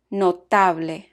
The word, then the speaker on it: notable: Side note, Spanish words that end in BLE are stressed on the next to the last syllable. For example, notable.